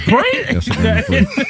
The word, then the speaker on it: Grand Prix: That's a Grand Prix. So the X is silent.